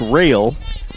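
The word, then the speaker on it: Rahl: It's R-A-H-L, but it's pronounced Rail.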